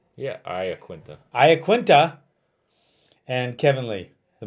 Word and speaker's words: Iaquinta: Yeah, Iaquinta.